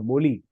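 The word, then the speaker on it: Mozhi: So this Mozi, the Z that we're using it, right? It's actually L. It's L. Moli. Moli means knuckle. Moli means knuckle. In Tamil, it's called Moli. Moli. It's Moli. The Z is pronounced, it's silent, and it's actually Moli.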